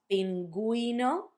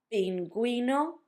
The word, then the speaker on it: pingüino: That's if you want for the U to have a sound when you have gegi.